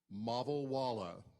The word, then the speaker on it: Mavalwala: My name is Mavalwala. rhymes with Cajun. Mavalwala rhymes with Walla Walla.